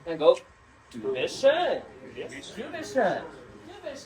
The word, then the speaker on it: schön: If you don't know how to pronounce that, think of like an urn that you put ashes in. So schön.